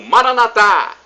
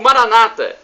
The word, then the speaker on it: Maranatha: e agora do aramaico Eu Clamo Maranatha como dizemos nós católicos ou Maranata como dizem nossos irmãos separados os evangélicos não importa a pronúncia somos todos irmãos e